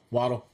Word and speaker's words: Waddle: Waddle.